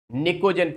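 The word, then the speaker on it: Pnictogen: Now see, Nicogen family. Now, in Nicogen family, P is silent.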